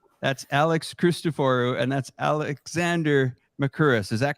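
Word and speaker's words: Alexander Mercouris: That's Alex Christoforou, and that's Alexander Makuris. Is that correct? Am I pronouncing that correct?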